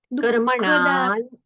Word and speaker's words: कर्मणां: कर्मणां कर्मणान, प्राणम नहीं है, कर्मणा पर अनुस्वार है ना, तो अनुस्वार का उच्चारण न जैसा होना चाहिए।